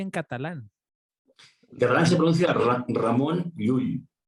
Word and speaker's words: Ramon Llull: a raimundo lulio bueno para empezar como se pronuncia en catalán que renunciar la ramón llull ramon llull como ya saben estamos hablando a montjuïc es